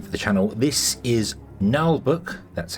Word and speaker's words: Naheulbeuk: brand new game for the channel this is nbook that's how you pronounce that nbook I did look it up null book's dungeon